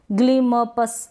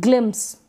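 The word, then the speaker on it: glimpse: है इसको भी ग्लिम्स ऐसे आप पढ़ भी नहीं पाएंगे ग्लिम पस ऐसे नहीं ग्लिम्स ग्लिम्स आधा म और आधा प एम और पी का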